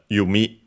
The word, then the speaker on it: 弓: Japanese ones, but uh the one that's used uh nowadays it's uh yumi accented on the last syllable.